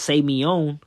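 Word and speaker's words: σημεῖον: greek the word miracle in the greek is pronounced say meown all right and when you go down it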